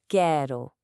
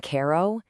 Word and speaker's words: quero: That E in quero, it's not a hard E sound. It's much more open.